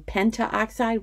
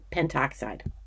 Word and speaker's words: pentoxide: want to point out sometimes when we have syllables that would bump up against each other instead of saying penta oxide we just go to pentoxide now the system is